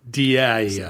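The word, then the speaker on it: Dyea: or don't uh but it's spelled D yea it looks looks like di diarrhea yeah Dia without the r but it's actually Di and it's a little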